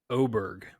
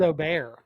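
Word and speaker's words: Åberg: for our own behalf it is technically pronounced ludvig oberg see I thought it was O bear the way this is reading it's O Berg so that's one for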